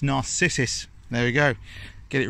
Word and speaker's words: narcissus: It's not narcissist, is it? It's narcissus.